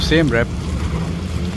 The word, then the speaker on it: Siem Reap: rep but most people call it rep so Sam rep basically means C defeated which is Thailand Sam